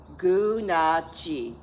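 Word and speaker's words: Gunalchéesh: This is how you say it. Gunachi.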